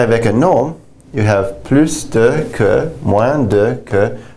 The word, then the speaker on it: plus: When you have this de and the plus together, you can pronounce the S. I generally prefer pronouncing the S. You don't have to. But I prefer doing it just because it differentiates from plus de, which can also mean